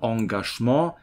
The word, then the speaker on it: Engagement: dieses Wort hier, Engagement, ursprünglich aus dem Französischen und mit dieser Aussprache hier, Engagement.